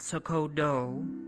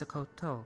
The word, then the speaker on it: Sakoto: people is uh that my name is not sooo it is sakoto because many of the